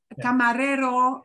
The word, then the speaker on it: camarero: two words for Raider camarero uh uh has two r's in it but they're both in the middle so they're both a single flap single flap yeah yeah and you